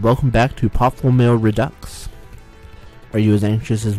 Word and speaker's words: redux: Sounds like ducks, accent on the second syllable.